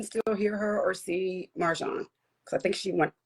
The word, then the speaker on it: Marjan: It's Marjon. Yeah. I mean honestly the Persian pronunciation is Marjon but for a good 40 plus years uh I've been called Marjan and it's almost like equal to me.